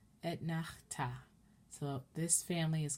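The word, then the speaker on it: אֶתְנַחְתָּא: As I mentioned before, 90% of Hebrew has the accent on the end of the word. And all of these trope names are as such.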